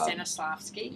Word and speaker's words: Stanislavski: I can't pronounce that name correctly. Yeah. But, Stanislavski.